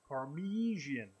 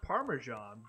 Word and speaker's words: Parmesan: at least for as my grandfather always says parmesian yep why am I not surprised I mean it's pronounced parmesan but it I mean